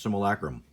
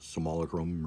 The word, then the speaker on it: simulacrum: Similac rooms I gotta say and yes it's pronounced simulacrum other youtubers simulacrum not Somali Chrome or whatever and the sanctum of all more